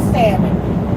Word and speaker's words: salmon: It is salmon, but the L is silent.